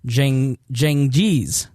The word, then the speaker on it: Cengiz: marry his Turkish fiancée, Hatice Seng, there's a pronouncer, Cengiz.